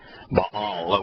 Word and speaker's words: Baal: ba baale is the Bal would be the proper Hebrew pronunciation ball Bale is the